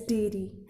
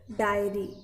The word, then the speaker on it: diary: top of their homework, which will be read as dairy, and dairy is something related to milk products. So the notebook which is used to keep notes is diary, DIARY.